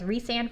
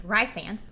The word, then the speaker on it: Rysand: I read it as Rysand for a long time, and then like 6 months later I realized I was pronouncing it wrong. It's Rysand.